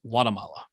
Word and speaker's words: Guatemala: originally a native of Guatemala, but he was saying it without the hard G, more like Guatemala.